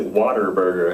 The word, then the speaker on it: Whataburger: were eating there so whataburger certain parts of texas they pronounce a water burger have you ever noticed